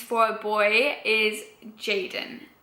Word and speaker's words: Jayden: a piece of paper, I'm certain a Spanish person would be like Hayden, and I don't like it pronounced like that.